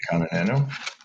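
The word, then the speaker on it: Kanha Nano: Am I pronouncing this right? The Kana Nano gummies? Yeah. Is that right? Absolutely. Kana Nano.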